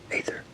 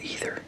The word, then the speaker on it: Aether: second half is Produx Aether. Produx Aether, or Ether. It starts with an A. It's spelled ether, but then an A is what starts it off. So AETHER.